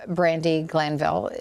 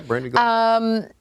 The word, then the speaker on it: Brandi Glanville: This story has been making the rounds, and pictures of Brandi Glanville. Did I say her name correctly? Yeah, I believe so. Yeah, Brandi Glanville.